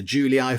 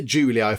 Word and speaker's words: Julii: I think that's how you pronounce an II in Latin. I'm fairly sure you say sort of an EI kind of a sound, like the Julii family, the Holoconii family, the Flavii family.